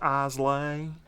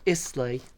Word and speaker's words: Islay: until next time it's lion java it's not pronounced eyes lane isley for the record islay